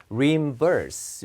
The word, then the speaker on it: reimburse: 뭐 be reimbursed for 이렇게 써도 되고 get reimbursed for 이렇게 써도 되는데 그 reimburse 액센트가 뒤에 있어요. 예, 뒤쪽에 있습니다, 이게. 발음 한번 해 보십시오. 예, 여기 있어요. reimburse 이렇게 발음하는데 이게 돈